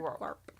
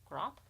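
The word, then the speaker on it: Grawp: And his half-brother, Grop. Garp. Grop. I say Grop. Grop. I think that's how they say it in the movies.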